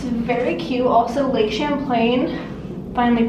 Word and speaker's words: Champlain: that same vibe it's very cute also lake champlain finally pronouncing it right thank you very much it